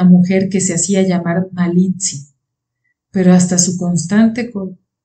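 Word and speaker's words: Malintzin: que se hacía llamar Malitzi, pero hasta su constante Pero hasta su consorte Cortés invariablemente pronunciaba mal ese nombre. que ella había seguido llamando la malincha.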